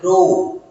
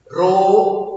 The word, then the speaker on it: rho: it as you should not write it just pronunciation purpose i am telling you you have to say it as rho rho r equal to rho into l by here